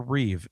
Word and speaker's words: Reeve: There is no S and Christopher Reev. The original George Reeves has an S.